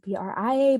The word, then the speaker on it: Brea: who our guest is she spells her names b-r-e-a i spell mine b-r-i-a but you're not gonna be able to hear the difference in pronunciation so bria is here